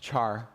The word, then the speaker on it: char: often pronounced char.